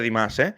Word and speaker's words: Dimash: La primera es, creo que lo he comentado en otros vídeos de Dimas, pero qué bien pronuncio ya Dimas, que antes decía Dimas y tal.